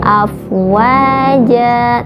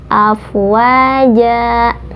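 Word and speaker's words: أفواجا: ujungnya ada di akhir-akhir afwaja tidak afwaj dan tapi afwaja JKT48 jangan2 harokat kemudian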